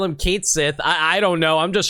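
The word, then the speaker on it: Cait Sith: We picked up Keshi, who I found out is pronounced Kate Sith in the remake of Final Fantasy VII recently.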